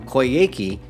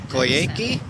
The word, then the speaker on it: Coyhaique: we just came from koyeki it sounds like it sounds like a bad pronunciation of karaoke oh yeah oh yeah